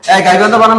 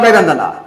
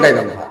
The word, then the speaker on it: গাইবান্ধা: form না বলবে কি ফ্রম বল উচ্চারণটা এই উচ্চারণটা কি ঠিক আছে বলবান্ধা গাইবান্ধা তুমি স্পেলিংটা পারতো স্পেলিংটা আই গাইডি ঠিক আছে এখন বলবান্ধা I'm from গাইবান্ধা I'm from গাইবান্ধা Naim from গাইগান্ধা I'm from গাইবান্ধা বলো বলো একটু